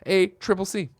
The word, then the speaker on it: ACCC: Mark says ACCC is widely accepted to be pronounced as a triple C.